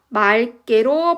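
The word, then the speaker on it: 맑게: 그래서 맞게가 아니라 말개로 발음을 하는 거의 원칙이에요.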